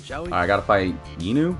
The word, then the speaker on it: Inu: Inu.